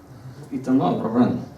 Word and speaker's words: Itamar Mehran: So, Itamar Mehran, are you here? Is that how you say his name? Itamar Mehran. That's how you say it in Hebrew.